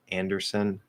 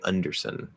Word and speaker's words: Anderson: The middle seems to be the same, but the first syllable, yeah, it's not un. It's definitely not un. You don't want to say Underson. That sounds like you're saying under something.